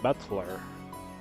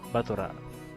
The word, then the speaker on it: Battler: Butler is made out of the characters for fight and person, and it's pronounced Battler. Batora. Ah.